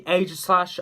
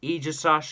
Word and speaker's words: Aegislash: stop here and that is aegislash people say aegislash I say Aegis ash because that's how it's pronounced in the anime um in such basically